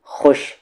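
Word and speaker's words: خوش: साहब ने ये खुश, खुश में वाव साइलेंट होता है, खबा में खब, रा के साथ ई वाली री, खुशखबरी दी।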